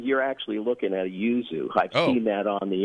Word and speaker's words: yuzu: We also grow yuzus, but the bumpy green one is a yuzu.